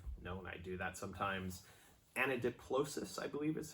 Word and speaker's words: anadiplosis: Anadiplosis, I believe is how it's pronounced.